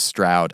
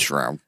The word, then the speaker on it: Stroud: Les Stroud. I think I could hang out with him. It's Shroud. The T's pronounced as an H. The T's actually an H.